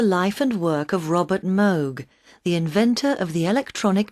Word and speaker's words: Moog: Although the Moog synthesizer, the word rhymes with vogue, not fugue, has had its greatest